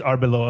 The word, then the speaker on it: Arbeloa: want to say Arbeloa, but it's it is Arbeloa. Okay, never mind. I always think that I'm going to mess it up, but I don't. Anyway, new coach Alvaro Arbeloa, and that's tough.